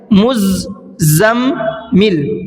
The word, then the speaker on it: مزمل: مزمل. یاد رکھیے گا مزمل. تو چلیے ہجے کر لیتے ہیں.